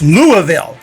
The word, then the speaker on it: Louisville: And I feel like more often than not, people say Louisville, but hey, it's Louisville.